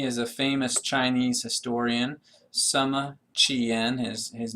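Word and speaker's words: Sima Qian: Sama Chien. His his name is actually spelled S I M A capital Q I A N but we pronounce that Sama Chien.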